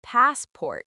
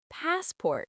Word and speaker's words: passport: They say passport with equal stress, but it's actually passport with stress on the first syllable.